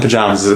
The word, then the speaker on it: pajamas: Coast New England is pronounces that second syllable the same way you would hear in the word father so pajama young pajamas